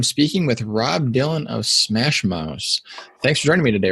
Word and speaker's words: SMASHmouse: have been like, okay, SMASHmouse. Like, it's kind of a tongue twister with the two S's.